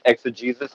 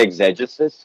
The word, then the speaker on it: exegesis: And I think you are pronouncing it correctly. I think it is exegesis. I hate that pronunciation, so I'm just going to say exegesis because that's my own personal.